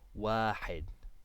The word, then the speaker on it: واحد: And without anything on it, this is an alif in واحد without a hamza on the top or the bottom. It just makes a long A sound. واحد, واحد.